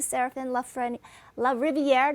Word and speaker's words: Serafin LaRiviere: But I want to say hello to Serafin LaRiviere. Did I pronounce it right, Serafin?